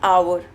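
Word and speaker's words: hour: और next an आवर। Right? H हमारा क्या होता है? साइलेंट हो जाता है। तो आवर साउंड करता है यानी कि ओ साउंड करता है।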